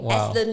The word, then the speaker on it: Aslant: This is the best name, Aslant Legal. Okay. And rhymes with excellent.